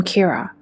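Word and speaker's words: キラ: He starts killing anyone who threatens to expose him and hides behind the name Kira, which by the way is just how killer is pronounced in Japanese.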